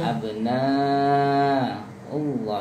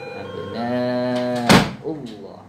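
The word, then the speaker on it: أَبْنَاءُ اللَّهِ: Abna Allah itu panjang 6 harokat. Panjang 6 bukan panjang 2. Abna Allah wa ahibba.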